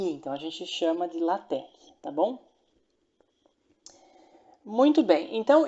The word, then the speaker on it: LaTeX: A pronúncia correta é LaTeX, tá? Não é LaTeX, não. Porque aqui o X, né, na verdade é a letra grega aqui, então a gente chama de LaTeX, tá bom?